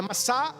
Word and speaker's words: Massá: Nas leituras, geralmente a gente lê Massa e Meriba, mas a pronúncia certa é Massá e Meribá.